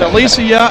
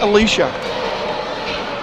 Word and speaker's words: Alicia: It's Alicia and not Alicia.